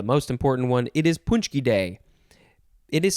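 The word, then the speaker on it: pączki: this is the most important one it is punchy day it is spelled p a c z k i and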